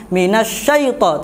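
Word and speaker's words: من الشيطان: lembut Mini Syaiful lembut diraut tidak usah dengan minasyaiton tidak usah ditekan lembut biasa Minaj Saiful baik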